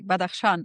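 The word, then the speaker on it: Badakhshan: born into a traditional household I think in Batakashan if I pronounced that correctly. Yes, absolutely. Bad Aan is the correct pronunciation.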